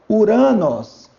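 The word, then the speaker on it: οὐρανός: Toda vez que houver um encontro ditongal, você não vai ler o ômicron e não lerá o Y. Você vai ler U. Então é Uranos.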